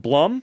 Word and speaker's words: Blum: some are very good it is pronounced Bloom I know uh it's